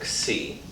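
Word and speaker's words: xi: use the greek letter c it's pronounced as a k followed by an s and then your vowel so c i'm going to use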